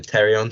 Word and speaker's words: pterion: But what it should say anyway is that this is the pterion, spelled with a P.